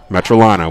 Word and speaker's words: Metrolina: into the second quarter yes it's metrolina we understand we i understand there's a lot of metrolina fans out there upset that uh i was pronouncing that wrong earlier in the game this how dare you